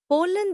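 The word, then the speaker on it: pollen: पोले जोर पॉल पर है। पी ओ एल एल ई एन लफ्ट को साउंड के हिस्सों में तोड़कर स्पेलिंग याद करना सबसे आसान तरीका है। पोलन the yellow dust इनाइड a flower.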